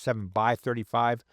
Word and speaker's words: 7x35: So, for instance, if you have a pair of 7 by 35 binoculars, I know it's written 7x35, but it's typically pronounced 7 by 35.